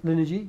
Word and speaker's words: Linergy: Is that, did I pronounce it correctly? Linergy, yep.